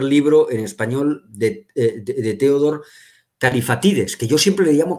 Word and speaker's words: Kallifatides: digamos no pero bueno en griego moderno el acento va califa tiddes digamos yo no se